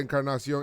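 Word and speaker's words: Encarnación: I see your Edwin roll your R's for Encarnacion.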